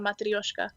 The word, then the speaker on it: matryoshka: They So, would say matryoshka. If you went to Russia, they'd call that a matryoshka. oh my God, you pronounce it so much better. I was trying so hard to roll my R's.